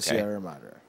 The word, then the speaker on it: Sierra Madre: Treasure of the, I'm hoping I'm pronouncing this right, the Sierra Madre. Is that right? Yes. The Treasure of the Sierra Madre.